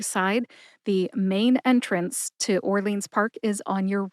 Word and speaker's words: Orleans: the name of this park correctly it is Orleans Park Orleans Park is a city park located